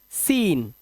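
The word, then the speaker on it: scene: जैसे एस सी आई इ एन सी ई से पढ़ते हैं साइंस तो यहां पर सी साइलेंट ऐसे ही सीन सी साइलेंट डिसाइपल चेले को बोलते हैं शीशे को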